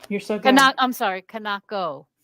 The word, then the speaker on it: Kanako: Be very afraid of this author I can't pronounce the name of. Kanaka Inuki? Okay, we love that. You're so good. I'm sorry, Kanako, right? Kanako.